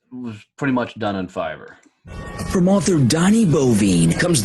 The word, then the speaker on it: Fiverr: all be done from Fiverr. Donnie, are you saying Fiver, Fiverr? Yes. Is that how it's spelled? Yep. Yep. The number 5 with the R at the end. Yeah.